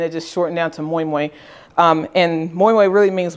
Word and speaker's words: moin moin: to make next okay this is called moymoy um and it's pronounced but it has an n on the end because originally it's in the Yoruba language and that's the your